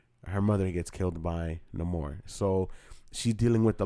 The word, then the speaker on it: Namor: deal with Namor, or Namor. In the movie they pronounce it Namor, for Niño Sin Amor, Namor.